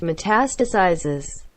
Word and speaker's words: metastasizes: It's pronounced metastasizes.